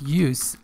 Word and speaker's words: use: the pronunciation of use this is use as a noun and this is used as a verb okay so the use